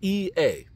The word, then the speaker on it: Ea: I think that's how it's pronounced, E-A, right? Sports, it's in the game. But nevertheless, it's E-A, Ea, right?